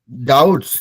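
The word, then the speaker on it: doubts: टी एस डी ओ यू पी टी S spelling मैंने पढ़ा डाउट्स डी ओ यू बी टी ए डी ओ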